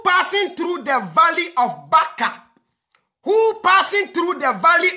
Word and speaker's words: Baca: And okran the pronunciation enye Baca. Baca eye B A C A.